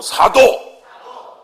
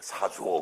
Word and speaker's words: 사도: 큰 소리로 사도. 뭐라고요? 발음 잘해야 돼. 사줘 그러면 안 돼. 과자 사줘, 차 사줘.